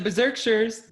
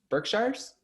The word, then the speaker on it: Berkshires: we're back in the berserksheres that's right we're back in dorinda's beautiful bluestone